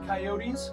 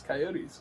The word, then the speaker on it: coyotes: have the Utah coyotes I will not say coyotes that's not how you pronounce it should I just keep it at that and that's the whole bit I'm getting a no off camera you could talk it's it's coyotes it's coyotes next we have the Burlington